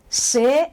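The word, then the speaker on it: ces: that they have explained SE said it is pronounced say o x in French that's the spelling that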